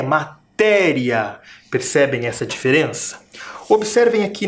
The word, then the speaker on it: matéria: Tem quantas sílabas? 1, 2 e 3. A última sílaba é riá. A penúltima é o té. E a antepenúltima, o ma. Matéria. Também tem sílaba tônica. Matéria. matéria. E ela está sinalizada por um acento.